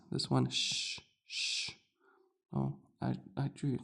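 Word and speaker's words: شين: You hear sh- sha shi shu.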